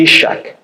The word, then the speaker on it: Isaac: pergunta foi feita agora Isaac é um nome que em hebraico eh pronuncia-se isak que significa eh aquele